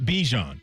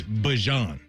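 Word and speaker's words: Bijan: Yeah, it is not Bejon. He came out and said that we've all been saying it wrong. It's Bjon.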